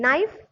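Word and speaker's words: knife: नाइफ, नाइफ में देखो के है, भले के का प्रोनाउंसिएशन नहीं, लेकिन नाइफ एन भी तो आपका कॉन्सोनेंट है, तो ए यूज करेंगे।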